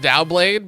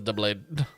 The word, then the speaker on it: Doublade: I've always pronounced it Dowblade, but it's spelled like Doublade, so... Dow sounds better, but I think you would actually pronounce it as Doublade.